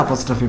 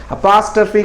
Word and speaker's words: apostrophe: இப்படி போட்டுரும், எஸ்ஸுக்கு அடுத்து அப்போஸ்ட்ரோஃபி போடணும். ஓகே, இதில் கொஞ்சம் கேர்ஃபுல்லாக இருக்கணும், நிறைய பேர் தப்பு பண்ணுற ஒரு இடம். ஓகே, சரி, இந்த 7 o'clock இருந்து பாருங்கள் நம்ம எவ்வளோ விஷயம். இதனுடைய உச்சரிப்பு வந்து அப்பாஸ்ட்ரஃபி கிடையாது, அப்போஸ்ட்ரோஃபி.